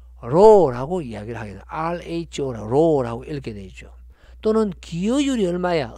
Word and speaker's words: rho: rho라고 읽게 되죠.